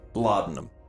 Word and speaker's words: laudanum: Laudanum.